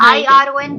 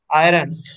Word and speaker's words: iron: IRON कैसे बोलोगे? Iron. Iron. Iron. R is silent.